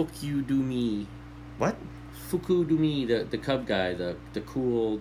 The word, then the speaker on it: Fukudome: you're trying to think of Fu K D Fukudome you're thinking of hookah domain okay don't be